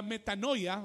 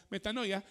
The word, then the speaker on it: metanoia: el el griego es la palabra metanoia o metano se pronuncia metanoia en hebreo la tesu